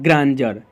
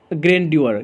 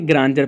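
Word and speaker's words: grandeur: जैसे कि यहाँ पे इसको क्या पढ़ेंगे ग्रांजर, ना कि ग्रेंड्योर, ग्रेंड्योर नहीं बल्कि ग्रांजर पढ़ेंगे, क्या बोले ग्रांजर पढ़ेंगे।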